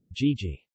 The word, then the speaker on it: gigi: G, as in English get, never is in general. Gigi.